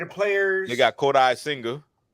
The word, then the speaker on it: Kodai Senga: Kodai, one word. One word. Senga, the other.